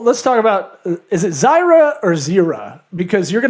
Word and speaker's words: Zyra: But for us it's Zyra.